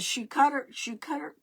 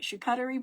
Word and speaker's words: charcuterie: Well, the board, it was a shoe cutter, I didn't even say it right, charcuterie board that you put food on.